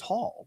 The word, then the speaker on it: Hall: Howell. Someone was saying I was pronouncing Hall wrong. It's just Hall.